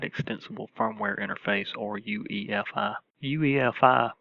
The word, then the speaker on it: UEFI: firmware interface or UEFI UEFI pronounced UniFi without the N was designed for modern